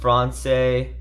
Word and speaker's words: Français: And C with cedilla for typing the French word for French, which I believe is pronounced Français properly.